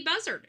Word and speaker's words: Buzzard: And her last name is Buzzard, just like the bird.